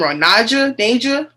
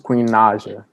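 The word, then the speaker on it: Queen Naija: y'all know queen i always say her name ronaja ninja it's queen naja niger queen naja now mr jeffe two-time platinum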